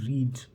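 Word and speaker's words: read: Second और third form को आप रेड प्रोनाउंस करते हैं और फर्स्ट फॉर्म को रीड प्रोनाउंस करते हैं।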